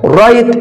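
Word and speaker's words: write: رايت الدبليو سايلنت لا تنطق.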